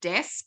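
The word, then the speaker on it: Desq: But can I introduce to everybody Carmen Stanford from Desk in Roma, Southwest Queensland. Desk is spelled D-E-S-Q.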